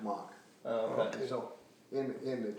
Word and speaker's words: Mack: and so, but their name was Mack, M-A-C-K, they spelled it, and pronounced it Mock.